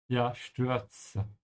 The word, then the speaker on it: Stürze: And just like I said a minute ago, the Z is a TS sound. Stürze.